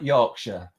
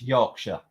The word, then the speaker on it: Yorkshire: It's like Yorkshire, Lancashire. Yeah. It's like an SHA on the end, not it's pronounced SHA. So it's Yorkshire, Lancashire, Leicester.